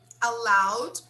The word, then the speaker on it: allowed: Be careful with this word. Oh, Brazilians okay. tend to make a mistake on the pronunciation here. They don't say allowed correctly sometimes, right? So make sure you say allowed, allowed, which means permitted, okay?